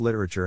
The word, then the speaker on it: literature: Phonetic Alphabet to pronounce literature have in mind that the size of the syllable indicates where the accent of stress is in this case the accent is in the first syllable corresponding to lit below are other ways